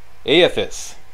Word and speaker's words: Aethys: I learned how to pronounce this now. Aethys.